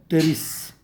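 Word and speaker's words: Pteris: Here also P is silent. Here teres, right?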